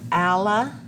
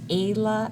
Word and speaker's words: ala: to that as the ala. I've heard it pronounced ala as well. Personally, I say ala.